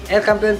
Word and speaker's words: El Campeon: And then El Campeon, ay aliwala man, El Campeon Pigeon Feeds, yun ang tamang pronunciation mga kalapatids.